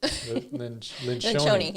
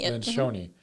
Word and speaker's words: Lencioni: Lencioni. Lencioni.